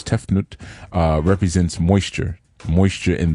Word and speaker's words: Tefnut: sister is tefnut and tefnut uh some people pronounce it tefnut but it's tefnut uh represents moisture moisture in the air and